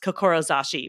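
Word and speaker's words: 志: And the top one is actually a standalone word that's pronounced kokorozashi, but it actually comes from samurai and heart.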